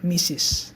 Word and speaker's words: Mrs.: Jadi tulisannya pakai T, tapi huruf T-nya ini silent atau tidak dibaca. Jadi cuman baca Mrs. gitu ya. Mrs. karena ini kata ini punya double meaning. Jadi kalau kita bacanya mistress itu meaningnya lain gitu. Artinya lain lah dan artinya buruk sih gitu ya. Artinya buruk kalau kita baca mistress gitu. Tapi kalau kita baca Mrs. itu yang benar gitu ya.